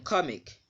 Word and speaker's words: comic: So in this case, the syllable that is second from the end will be the first syllable. And that's why the stress mark is on ko, comic.